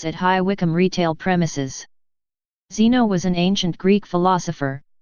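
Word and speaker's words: xeno: The same sounding word, Zeno, spelt with an X, can mean stranger, foreigner, or enemy.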